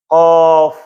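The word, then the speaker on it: ق: Ya, qof ya ini ee dibacanya enam harakat.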